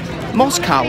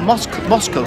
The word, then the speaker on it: Moscow: you might be wondering why i'm pronouncing it moscow street not moscow street because in the u.s it's pronounced moscow simple